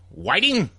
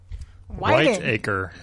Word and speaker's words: Whiteacre: First one came up, representing the Republican Party, Jonathan Whiting. Whiteacre. Whiteacre, okay. Just like the two words that spell it out.